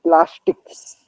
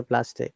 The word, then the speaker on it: plastic: are both made from plastics there is no as sound after plastic remember that plastic so you have brought